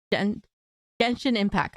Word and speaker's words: Genshin Impact: But we have to talk about Genshin Impact.